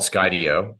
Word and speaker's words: Skydio: So the company's called Skydio. The name comes from putting together Skydio. Sky Okay. Studio. Yeah. So Skydio recently unveiled their latest enterprise drone.